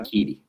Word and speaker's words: Ebiketie: Is that how you pronounce it? Ebiketie.